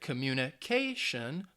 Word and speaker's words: communication: 4, 5, 6, 7, that stress is going to be on the second to last one. So ambition, position, decision, collision. All right, communication, pronunciation.